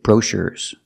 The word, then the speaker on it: brochures: I I cannot say brochures we move the stress and we move the stress to the second syllable brochures we have to